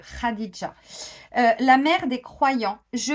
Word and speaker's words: Khadija: le souhaite alors moi je vais le dire version française mais je sais que ça ne se prononce pas comme ça Khadija bon je pense qu'on prononce ce radisja la Mère des Croyants